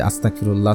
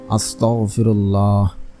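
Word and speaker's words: أستغفر الله: এইভাবে পড়বেন না যে আস্তাগফিরুল্লাহ আস্তাগফিরুল্লাহ এভাবে পড়বেন না। উচ্চারণ ঠিক হবে না। আপনারা পড়বেন আস্তাগফিরুল্লাহ।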